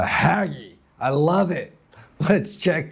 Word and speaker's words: Ragge: Haggi in North American you want to pronounce it raggy, but I've been told down here it's the haggy.